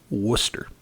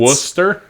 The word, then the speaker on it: Worcester: or what mm-hmm um but it's Worcester that's that's how that's the name of the town John that's missing a lot of syllables I'm telling you man it's Worcester yep trust me I